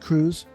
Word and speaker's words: Cruse: And your last name is pronounced Cruz. You got it. Okay. Like the ship.